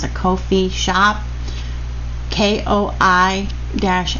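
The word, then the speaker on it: Ko-fi: a coffee I think it's the how you pronounce it Kofi shop k-o-i Dash f i and she has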